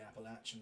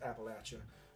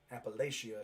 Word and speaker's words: Appalachia: there is actually pronounced appalachia not appalachia appalachia is what you yanks like to say but we down here we like to say oh we're going to throw an apple at you appalachia but anyway this is